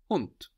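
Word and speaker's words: Hund: the word for dog the word for dog in German is hunt hunt H it's spelled h n d so in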